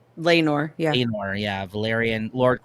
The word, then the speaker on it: Laenor: Laenor, yeah.